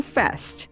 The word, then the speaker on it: Feste: [Feste is I’m told pronounced ‘Festy’ or Festay] I’m so sorry.